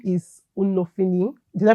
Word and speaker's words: Unofini: His name is Unofini. Did I pronounce that?